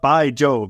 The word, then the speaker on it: Bai Jobe: Kansas just wondering it's we're talking about by job that is literally his name B AI is how you spell it space j o be by job is the